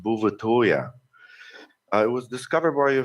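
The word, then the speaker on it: Bouvetøya: Norwegian territory and in Norwegian the island is pronounced buvatoria it was discovered by a French explorer sometime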